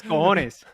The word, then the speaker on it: cojones: La palabra es cojones.